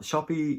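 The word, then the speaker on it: Shoppe: Now, Shoppy is spelt with a double P-E, like the old-fashioned way, and I believe that's how you pronounce it.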